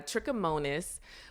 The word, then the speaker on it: trichomonas: at least I do so is that so pronounce it again so there's trichomonas which is the actual parasite bug that's causing